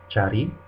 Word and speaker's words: cari: C is always pronounced like a CH in English, like in church. An example would be cari, means to look for or to search.